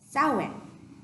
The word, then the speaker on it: Samhain: It's Samhain, but it's pronounced Samhain.